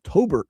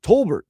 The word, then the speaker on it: Tolbert: At this point, Jaylen to Tobbert Tolbert, let me not mis mis once again, when you're mispronouncing some of the main guys you're relying on are not knowing how to say their names.